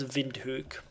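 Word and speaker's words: Windhoek: it and it shouldn't be all that hard vind hook vind hook okay so it's vind hook so vind hook is going away this route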